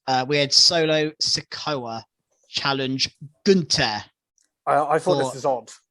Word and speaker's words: Gunther: But literally, he super kicked Gunther, sorry. Gunther. And he was down. Gunther, it's pronounced Gunther.